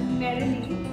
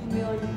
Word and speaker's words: merely: First, I used to pronounce it as merrily, but then later I realized it's merely.